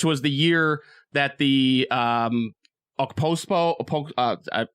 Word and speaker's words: Okposo: the year that the Okposo, right? Is that how you say it? I don't know. I don't know. Watch hockey. K is silent. Okay. Okposo and O'Reilly.